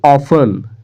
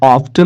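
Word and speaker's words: often: They ऑफन, या ऑफ्टन नहीं इसको पढ़ेंगे, ऑफन पढ़ेंगे। ठीक है, टी ई साइलेंट होता है तो यहाँ पे हो जाएगा दे ऑफ्टन, वह अक्सर, क्वारल्ड, क्वारल्ड का मतलब झगड़ना।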